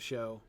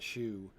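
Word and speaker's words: shew: yep yep i love show uh there by the way s-h-e-w when you're reading an old book s-h-e-w is pronounced show it's not shoe it looks like shoe but it just isn't um okay we have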